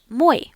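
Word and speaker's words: мой: So if you have a male noun, you are going to say my and this rhy rhymes with boy.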